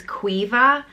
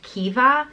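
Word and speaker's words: Caoimhe: gentle beautiful and precious it's pronounced differently depending on where in Ireland you are and where I am it's qui vive but I know in other places in Ireland it's pronounced Kiva all the Queen as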